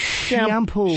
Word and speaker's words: Chiampou: It's shampoo. Shampoo. Ken Fancy spelling of Shampoo. shampoo. It's shampoo because it's a radio name, and they spell it fancy like shampoo.